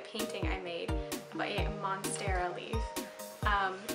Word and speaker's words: monstera: I made by a Monera Leaf um not sure if I'm pronouncing that right but it's monster ah monster a it's called a monstera leaf it's a very popular